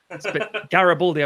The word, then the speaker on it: Garibaldi: how it's pronounced era emphasis on the third syllable baldi garibaldi um anyway my game